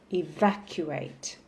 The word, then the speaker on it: evacuate: evacuate from last lesson it has four syllables e VAR q wait so the stress will be on the second syllable evacuate so if you can hear me clearly please repeat the word evacuate distressing the second syllable